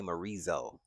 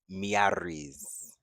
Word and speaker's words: Miary Zo: they pronounce her name, everybody say Marizo, but the way they announce her is Miaris. Like Miaris. And that's it. It's not no Marizo or anything like that.